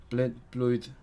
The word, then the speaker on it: mlynedd: Mlynedd. Now mlynedd. Gonna change the B into an M.